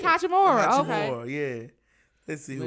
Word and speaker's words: Hachimura: Yeah, it's Hachimura.